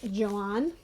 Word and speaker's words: Joan: Joanne's point of view it's spelled Joan in the original Weaver said article it was spelled Joanne and in the Korean translation it's also pronounced John not sure why they